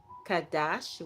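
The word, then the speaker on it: חָדָשׁ: And the word for that in the Hebrew language is kadash, which is spelled c h a d a sh.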